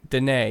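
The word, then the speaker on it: Diné: Hopi Apache ute or dine or DNA he says the way it's pronounced today Danae yeah you will find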